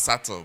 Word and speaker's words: subtle: But they pronounce subtle, but there is a B in it.